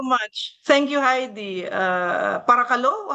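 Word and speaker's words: παρακαλώ: Thank you Heidi uh parakalo.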